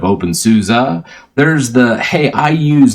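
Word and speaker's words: openSUSE: deian you say devian you say open Suzie instead of open Souza there's the hey I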